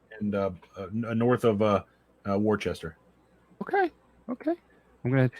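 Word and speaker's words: Worcester: uh north of uh Worchester okay I'm gonna it's funny because that's how I would say it but down there it's woosta uh there's so many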